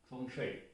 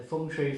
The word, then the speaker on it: feng shui: so in the last video we talked about feng shui so function is the pronunciation but what does the feng shui really